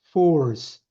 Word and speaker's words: force: 모르니까 이게 F 발음이에요. force, 오. force. Force.